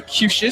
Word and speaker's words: Cuccias: Okay, Matthew Cucias spells his name Cuccias. Thank goodness for pronunciation, guys.